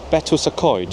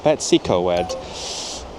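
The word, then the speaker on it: Betws-y-Coed: Conway har Port maduk we're in betoid or as English people sometimes say bety C don't feel bad for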